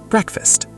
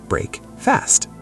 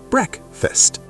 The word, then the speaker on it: breakfast: But when we stick them together, we do not say break fast. How do we pronounce it naturally, Lucas? We change the first sound to brek, and the second sound becomes very short. First, breakfast.